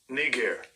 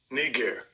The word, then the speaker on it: Niger: the blue letter says right strong G 3526 KNE gear KNE gear let's get it one more time strong G